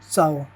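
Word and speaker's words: ciao: यानी बेग बेने बेने यानी अच्छा अब इसका उच्चारण होता है भाई ची जैसे चाओ चाओ यानी हेलो या बाय काजा काजा यानी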